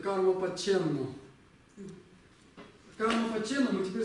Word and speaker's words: ཀརྨ་པ་མཁྱེནནོ།: Так вот, они произносят карма-паченну.